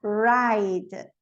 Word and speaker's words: ride: Então, a letra I no alfabeto é I. Então, aqui ela vai ficar ride. Ride, vê, eu não pronuncio o E, mas ele tem uma função nessa frase, nessa palavra, quer dizer para mim que a vogal anterior é longa.